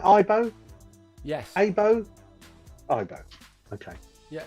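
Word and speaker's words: Aibo: it k90 Furby Tamagotchi or IBO did I pronounce that right IBO yes IBO IO okay yeah so there you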